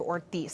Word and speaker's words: Ortiz: It's pronounced Representative Ortiz, Senator Kavanagh.